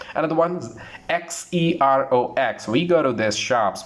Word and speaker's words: Xerox: It's not Xerox, not J, it's Xerox. Xerox. Z sound has to come whenever you pronounce this word.